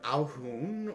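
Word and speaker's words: Alhoon: for it but they're mostly known as either al-hoon or uh well mostly al-hoons elaborate Al hoon is spelled a l h o o n s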